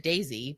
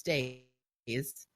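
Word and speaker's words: Daise: So, for instance, Days Congar from the Two Rivers, I always said Daisy, but it's not. It's Days.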